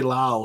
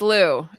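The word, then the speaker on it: Louw: Sorry, everybody says his name wrong. It's Warren Liu. Oh, I okay. was Okay, I say Lao, so that's good. It's Lou.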